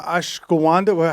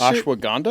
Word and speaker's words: ashwagandha: Yeah, he took uh Ashawanda. How do you pronounce that Ashwagandha. Ashwagandha. Ayawaska. Aiawasa. That Wow. You said it so wrong.